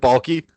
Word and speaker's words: Baalke: They fired Trent Baalke.